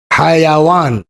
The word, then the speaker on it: حیوان: حیوان بنا ہی ہے حیوان، جو صحیح تلفظ اس کا ہوگا حیوان کا، حیوان یہ بنا ہے حیات سے، یعنی جس کے اندر جان ہو.